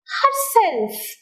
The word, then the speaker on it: herself: this world look at the examples herself herself old-fashioned old-fashioned so the second part here in the word herself the second part is self so self takes the stress and in the word